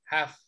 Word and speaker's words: half: No se pronuncia la L, solo se pronuncia la H, una J, la A y la F. Half.